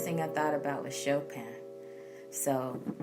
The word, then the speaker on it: Chopin: I thought about with Chopin so I know you may say Chopin some people will even say chopping but it's Chopin that's really how you say it I'll show pen by